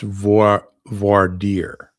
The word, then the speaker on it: voir dire: Okay, so Auntie is telling me what I'm mispronouncing here it's pronounced voir dire.